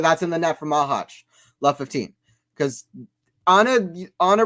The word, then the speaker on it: Machac: To be honest, I think you are saying Machac correct.